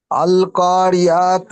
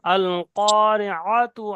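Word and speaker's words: القارعة: ও, আল কারিআতু, আ আইন জবর আ গলার মধ্যে দিয়ে। আইনের মাখরাজ বলা হয়েছে হলক গলার মাঝখান দিয়ে, মানে হলকের মাঝখান দিয়ে উচ্চারিত হয়।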